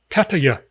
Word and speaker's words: Pattaya: Ask the locals. You say Patta. P-A-T-T-A. Patta. Give it a little brief pause. Ya. Patta. Ya. Pattaya. Pattaya. The Y is used for the ya.